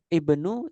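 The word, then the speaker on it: ابن: Ibnu Zaidin. Ibnu. Dibaca I-nya. Hamzahnya dibaca.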